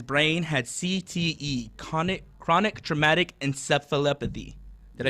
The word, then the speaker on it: encephalopathy: found that his brain had CTE, chronic traumatic encephalopathy. Did I say that right, Mo? Yeah, I believe so. Yeah, that was good. Here, give us the pronunciation one more time. So it's chronic traumatic encephalopathy.